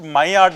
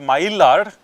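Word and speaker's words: Maillard: Okay, it has to be pronounced mayard not myard because in French it's pronounced as mayadard.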